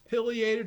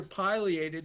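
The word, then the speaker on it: pileated: They're called piated or piliated depending on how you you want to pronounce it.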